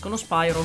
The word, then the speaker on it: Spyro: Spiro, che tra l'altro, da quello che so, è la pronuncia corretta, perché si parla di Pyros, no? Si parla del greco, per cui la pronuncia corretta dovrebbe essere Spiro.